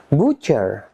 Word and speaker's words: butcher: Number 5, silent T. Friends, TC, T is not pronounced. Ternyata teman-teman, TC, T-nya tidak dibaca. For example, repeat after me. Watch, watch. Butcher, butcher.